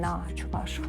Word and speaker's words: чувашах: Вот вышла вот эта книга, вот «Повествование о чувашах». Это о чувашах надо, ударение на чувашах.